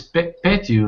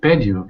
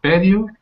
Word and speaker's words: patio: It's is patio, not patio. I I I made a mistake. It's It's patio. Um yeah, just put a little more stress on that first syllable.